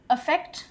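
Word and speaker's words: affect: अफेक्ट, अफेक्ट, दोनों pronunciation same है। अफेक्ट, अफेक्ट, इफेक्ट नहीं होता है वो।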